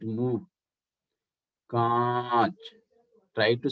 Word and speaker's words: कांच: But कांच, कांच, air will come from mouth and nose.